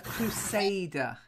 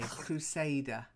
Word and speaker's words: crusader: aborted Lee back then a crusader with an a long a crusader crusade oh yeah the